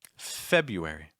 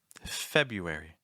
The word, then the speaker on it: February: know in the comments February February notice that that first R is not usually pronounced February March March make